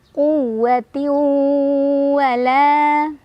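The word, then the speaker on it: قُوَّةٍ وَلَا: Karena ada tanwin kasrah bertemu dengan huruf waw. Cara bacanya, tanwinnya masukkan ke huruf waw sambil berdengung. Jadi jangan lupa, ini harus sabar. Selain kita sudah tidak membunyikan tanwinnya, jadi kita sudah leburkan tanwinnya dengan waw, udah langsung fokus ke waw, juga jangan lupa nahan, dengung dulu ya.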